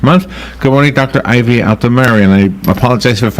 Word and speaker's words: Altomare: Ivy out to Mary and I apologize so if I'm mispronouncing your name good morning no your pronunciation is perfect on both accounts both my name and thrombocytopenia you said it like